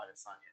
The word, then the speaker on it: Adesanya: Oh, Adesanya.